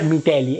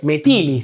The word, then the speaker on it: Metilli: Now let's look at an example from Fernanda Metilli — not Mitelli... it's Metilli... Right? I said it wrong in a previous video...